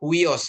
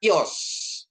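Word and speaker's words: υἱός: Kita sering mendengar huios gitu ya Bapak Ibu ya. Huios ya. Tapi ini bacanya ios. Ios ya.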